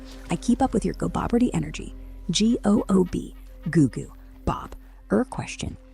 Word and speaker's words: Gooboberti: Should be Gooboberti, with goo as in double O, Oh, that was not perfect.